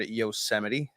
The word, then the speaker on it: Yosemite: It was because the boy was up in Yosemite. How was that for you? I'm very, very impressed that you can say the word Yosemite as opposed to Yosemite, which I actually called it Yosemite for a while.